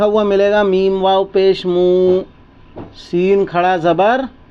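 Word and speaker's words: موسى: मिलेगा मीम वाव पेश म सीन खड़ा जबर सा मूसा क्या लिखा मिलेगा मूसा तो ये देखें यहां ये जो य लिखा है ना ये साइलेंट तो फिर क्या पढ़ने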